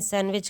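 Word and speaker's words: sandwich: सैंडविच में कौन सा लेटर साइलेंट है? अच्छा हम लोग सैंडविच थोड़ी ना बोलते हैं। हमेशा बोलते हैं सैंडविच खा लो। सैंडविच। तो इसमें साइलेंट कौन सा रहा? ऑप्शन इसमें साइलेंट रहा D. Option number C right answer. सैंडविच में डी साइलेंट रहता है।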